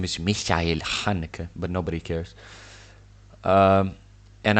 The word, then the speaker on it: Haneke: Amour is a movie directed by Michael Haneke. Haneke, That's how I say his name. His name is Michael Haneke, but nobody cares.